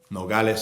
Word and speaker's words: Nogales: moved to a Border Town in Arizona called Nogales Nogales CA is how I'd pronounce it so I lived there for a